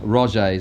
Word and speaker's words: Roget's: We gave him a Roget's, I got the pronunciation right this time, thesaurus last time, but we've run out of those.